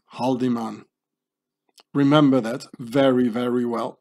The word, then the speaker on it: Haldimand: name very very well in swiss german you pronounce this haudemann howen it means to hit or to strike haudemann you know nazi templars to swiss mercenaries but let's say haldiman remember that very very